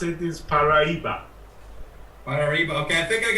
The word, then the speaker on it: Paraiba: you say Mariah but actually it's Portuguese and you say Paraiba we correct way to pronounce it is Paraiba Marie bouquet I think